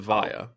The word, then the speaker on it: Evija: And I, according to Lotus, it's oh, Evija. according to some Brits, it's Avaya. Well, ooh, According to some Brits in a shed, it's it's also Evija.